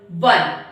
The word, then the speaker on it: one: Okay, we pronounce this one one.